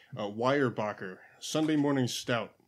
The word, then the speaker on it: Weyerbacher: I have here from, watch me butcher this name, Weyerbacher, Sunday Morning Stout. It's actually pronounced correctly.